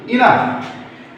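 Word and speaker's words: enough: যদি এইউ বা অয়ু থাকে তবে আমাদেরকে যে উচ্চারণ কি করতে হবে? ফ করতে হবে। তাহলে আমি তোমাদেরকে এক্সাম্পল দেখাচ্ছি। ইনাফ, ই এন ও ইউ জি এইচ, ইনাফ।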